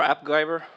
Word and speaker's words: AppGyver: So, about my company, we are AppGyver. That rhymes with MacGyver.